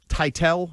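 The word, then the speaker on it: Teitell: a quick little paragraph here from I Beth Titel is how I'm pronouncing it. T E I T E L L. You got it. You spelled it out. Title.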